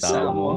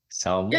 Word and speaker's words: Samoa: So since you're from, hopefully I pronounce it right, Yes. Samoa, Yeah, Samoa.